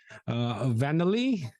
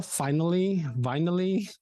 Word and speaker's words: finally: Vanally, is it correct to say vanally? No, it's finally, you finally would be fine.